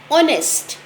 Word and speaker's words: honest: ध्यान से सुनिए, नहीं, क्योंकि एच में से यहाँ साइलेंट की आवाज़ है, एच से वॉइस नहीं आ रही है, यहाँ सबसे पहले ओ की आवाज़ आ रही है, इसलिए हम लगाएंगे एन।